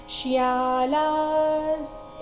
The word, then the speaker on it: ಶ್ಯಾಲಾಃ: ಶ್ವಶುರಾ ಪೌತ್ರಾಶ್ ಶ್ಯಾಲಾ ಸಂಬಂಧಿನಸ್ತತಾ ಶ್ಯಾಲಾಸ್ ಇಲ್ಲಿ ಶ್ಯಾ ಮತ್ತೆ ಲ ಎರಡು ಸಹ ದೀರ್ಘ ಲಂತರ ಇರೋ ವಿಸರ್ಗದ ಉಚ್ಚಾರಣೆ ಅರ್ಧ ಸ ರೀತಿ ಮುಂದಿನ ಶಬ್ದ ಸ ದಿಂದ